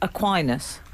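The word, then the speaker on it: Aquinas: to Frank and of course to St Thomas aquinus pronounced that correctly you did thank you I believe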